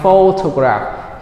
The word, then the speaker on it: photograph: So 5, 5, 5, 5, 5 photograph. Here the stress is on the first syllable.